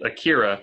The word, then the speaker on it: Akira: spell it kira kurosawa it's akira like the anime a-k-i-r-a okay i see it